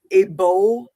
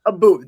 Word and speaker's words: Abu: He's a British bodybuilder, Abo. Yes. Yeah. Okay. Abu, I think it is. Yeah, Abu. That's the correct pronunciation.